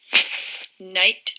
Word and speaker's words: knight: this word right here night with k n i g h t that k it doesn't make a sound at the beginning of the word it's a silent k and it's not like